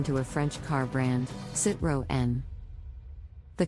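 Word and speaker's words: Citroën: a French car brand sit row N the correct pronunciation is sit row N with the emphasis on the second syllable many people mispronounce it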